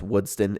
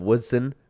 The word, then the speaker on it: Woodson: comment right saying that I always pronounce woodston in instead of of Woodson I say woodston sorry about that I'll